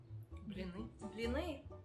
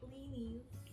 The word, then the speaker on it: blini: Blini. Or as Americans say, blinis. Blini? No, blini.